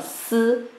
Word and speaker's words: 四: Donc ici, je dois vous dire que vous voyez I, mais ici, on ne prononce pas I. Donc c'est toujours comme si, si, OK, si.